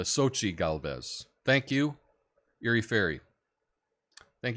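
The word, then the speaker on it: Xóchitl Gálvez: so um yeah anyway sounds like Sochi Sochi thank you I uh I I I I wasn't sure how to say her name but it's a Sochi Galvez thank you Yuri fairy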